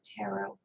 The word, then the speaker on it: tarot: There's no T at the end of tarot. Tarot It's deck. not tarot. It's a tarot deck. No. It says tarot deck. The last T is silent.